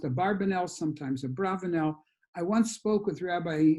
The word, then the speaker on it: Abravanel: the rambam and i asked them is it a bravanelle or barbano in america it seems that the